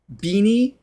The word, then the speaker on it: Bini: sound B oh no the I is an e shame on me I've